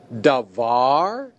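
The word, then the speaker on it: דָּבָר: Davar. In this word, the tonic syllable is var. That's the syllable that receives the accent.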